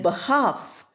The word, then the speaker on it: behalf: Then behalf. Half or behalf, both are pronounced without the L.